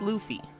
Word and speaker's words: Luffy: It is pronounced Luffy. It is a hard U sound.